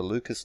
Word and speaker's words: Lucas: Fibonacci sometimes it's the Lucas numbers which I believe a properly pronounced luca numbers but the lucas numbers but this system